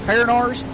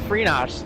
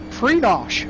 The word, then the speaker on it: Frenosh: Is it Farinars? It's actually pronounced Frenosh, Polish name, actually. Frenosh, okay.